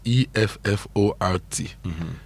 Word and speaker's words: Effort: The stress, and I like how Blessed got it, the stress is on the first syllable of the word. When I say the stress is on the first syllable, it means you stress the effort.